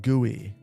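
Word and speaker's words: GUI: My guess my guess is you you have uh remnants of gooey. That's how you pronounce it left in your build.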